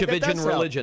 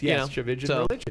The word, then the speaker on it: Tchividjian: And I tell people it rhymes with religion, if that helps. Right, Tchividjian religion. Yes, Tchividjian religion.